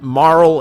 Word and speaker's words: Marle: I called her Marley for years because in my head, I'm like, why would you put an E that you're not supposed to pronounce? But Marl is the preferred pronunciation,